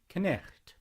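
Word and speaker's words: knight: So the word night, instead of being K-N-I-H-T, is now K-N-I-G-H-T, but it's still pronounced, as in Monty Python, Knecht.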